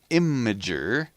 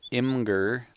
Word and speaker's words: Imgur: um oh yeah hey are you guys familiar with imager sometimes pronounced incorrectly I'm told imgur IMG you are calm